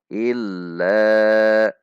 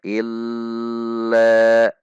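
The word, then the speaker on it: إلا: bacaan mad tabi'i la sehingga dibaca perhatikan illa, tidak dibaca illa, itu lam tasdidnya terlalu panjang atau dihentak illa, tidak boleh, namun dengan sifat bainiyah dari huruf lam yaitu illa, ada hentakan dengan memperhatikan sifat dari huruf lam.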